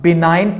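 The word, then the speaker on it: benign: हम विनेगर और दूसरा बिनाइन इसको हम पढ़ सकते हैं या बेनिन पढ़ सकते हैं जी जो है वो साइलेंट आएगा तो आप दोनों प्रनंसीएशंस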